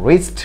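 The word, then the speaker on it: wrist: তৃতীয় নাম্বার যে ওয়ার্ডটি ডাব্লিউ আর আই এস টি, রিস্ট। রিস্ট তো হাতের কবজি, রিস্ট তো কি হাতের কবজি, এখানেও ডাব্লিউ লেটারটি সাইলেন্ট রয়েছে।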